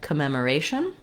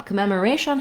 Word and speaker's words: commemoration: at the beginning but this time the meem syllable is not stressed in words that end with a t o n or Asian the syllable with the a is always stressed so the second to last syllable in this case the ray R syllable the ray gets the stress so again I